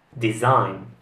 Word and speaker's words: design: parola come avete sentito giuseppe gli italiani la pronunciano in modo sbagliato dovrebbe essere design design passiamo alla prossima parola giuseppe questa è